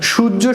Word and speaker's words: সূর্য: এরপরে আছে 30 নাম্বার সূর্য শব্দের সঠিক উচ্চারণ কি সূর্যের উচ্চারণটা কিভাবে আসবে সঠিক উচ্চারণ আসবে সুর যো সুর এই র এর নিচে একটা হলন্ত আছে এটা এটা খেয়াল রাখবেন